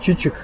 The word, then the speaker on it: Çiçek: название на самом деле он считается 3 из турецкого как чичек а не то что вы подумали и переводится цветок средства